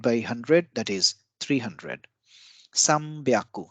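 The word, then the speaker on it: 三百: some byaku so this is an exception in pronunciation so instead of sun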